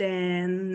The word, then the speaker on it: and: Carol looks sad and anxious. Vamos colocar a transcrição aqui embaixo. Carol looks sad and anxious. Dessa forma aqui, eu assimilei o D, tá? Eu não estou pronunciando esse D.